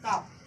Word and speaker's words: calf: और इसके बच्चा को बोलते हैं काफ। एल साइलेंट रहेगा, एल को नहीं बोलेंगे, काफ, CALF, एल साइलेंट रहेगा।